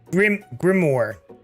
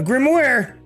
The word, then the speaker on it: grimoire: It appeared to be some sort of grimoire, but I don't really believe in that magic stuff. A grimoire? I can't even pronounce that word.